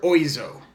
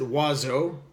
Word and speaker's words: Oizo: oizo that's how you could pronounce it or you could pronounce it waz o which is the way that you pronounce this word in French I am a French